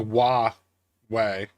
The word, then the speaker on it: Huawei: It's It's like It's like Wah Way. That's actually I think how it's pronounced. Hawaii. No, no, no, no. Not like W with an A. It's like W like that.